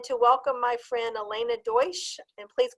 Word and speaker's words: Deutsch: more excited than to welcome my friend Elena Deutsch, and please correct me if that's not the way you pronounce it. It's fine. You're very close. Deutsch.